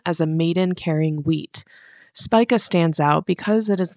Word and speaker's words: Spica: Spya, sometimes pronounced Spika, is the brightest star in Virgo, one of the constellations of the zodiac in which the sun passes through.